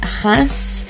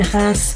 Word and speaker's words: Reims: And Reims, if I've said that right, that's R-E-I-M-S. My mum told me how to pronounce that because my mum's French. So hopefully that's right.